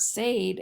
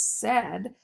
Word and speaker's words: said: would say a so it should be sayed but it's not sayed it's said so we're gonna heart the a i because it makes an sound so it makes it like a short e sound so really it's not the ed sound it's really just the short e sound that said makes okay those are your